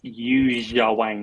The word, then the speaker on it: Yuja Wang: Phonetically, kind of announce Yuja Wang, not use my Wang, which is what it kind of sounds like.